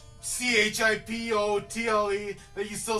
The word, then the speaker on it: Chipotle: at the end okay Chipotle another one Chipotle tle at the end why is it tle at the end because you don't say chipot it's not a tricky